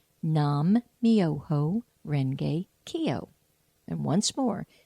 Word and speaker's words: Nam-myoho-renge-kyo: it's a wonderful chant and here it is nam-myoho-renge-kyo nam-myoho-renge-kyo and once more nam-myoho-renge-kyo so here's how you spell it and I think it's the real spelling